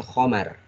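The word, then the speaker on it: خَمْر: Tulisannya khamrun, tapi kita bacanya khomar.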